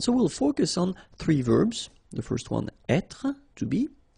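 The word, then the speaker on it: vert: Feminine rou remember rou ver so masculine form don't pronounce the final T ver feminine form ver so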